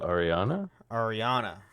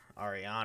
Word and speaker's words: Aranea: Ardyn plans to have the diamond weapon transported to Tenebrae, but Arenia destroys it. So, okay. Yeah, she's pretty awesome. My bestest chef boy goes blind. Arenia? It's pronounced Is it Ariana? Ariana.